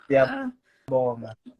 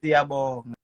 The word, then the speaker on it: Siyabonga: Siyabonga. One more time. Siyabonga.